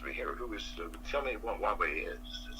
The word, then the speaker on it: Huawei: Now, if I know an executive at Huawei, how do you say it again? I'll tell you how it's pronounced.